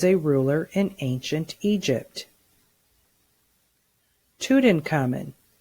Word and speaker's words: Tutankhamun: Tutankhamun. Again, use the syllable segmenting strategy to read this word. Tu-tun-ka-mun. Say the word. Tutankhamun.